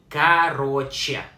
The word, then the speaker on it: короче: Pronounced like короче.